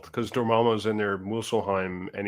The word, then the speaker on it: Muspelheim: Because Dormammu's in there, Muspelheim, and he didn't spell it right because there's an F in it. Muspelheim. It's a P. Muspelheim. Muspelheim. Is that like it's not type slime. of seafood? No, it's Muspel. There's it's M-U.